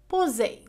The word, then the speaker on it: poser: إذا لدينا الحالة الأولى التي تنطق فيها S Z يعني تعطينا الصوت Z بدلا من S، هي عندما تكون بين حرفين متحركين، يعني عندما تكون S entre deux voyelles A O U I E. إذن في هذه الحالة عندما تكون S بين deux voyelles فإنها تنطق Z.